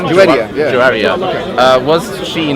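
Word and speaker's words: Juwayriya: Muhammad's wife, Juwaria, is that how you pronounce her name? Juwaria, yeah.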